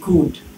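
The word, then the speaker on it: could: তারপরে সি ও ইউ এল ডি, এটা কুলড হওয়ার কথা ছিল, এটা হচ্ছে সি ও ইউ ডি কুড, তাই না?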